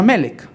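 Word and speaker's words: מלך: La palabra rey en hebreo es melek, M-L-K, es la raíz. Las vocales no cuentan mucho en hebreo, van a contar después. Pero entonces la raíz es M-L-K y se pronuncia melek.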